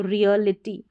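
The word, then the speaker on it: reality: यहाँ पर है रिय, ठीक है, आर को र पढ़ा, ई ईयर करके इस ई ए को पढ़ेंगे तो रियलिटी।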